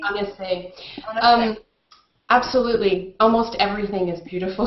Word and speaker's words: Annecy: Can you recommend locations around, and I don't know how to pronounce this, Annecy? Annecy.